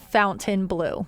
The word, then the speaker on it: Fontainebleau: So the Americanized version is Chateau de Fontainebleau. Fontainebleau, yes. That would be how Americans But I think the butchered French version, as my literally 0 days of French, and, you know, the language is Chateau de Fontainebleau. Okay. I think that's close.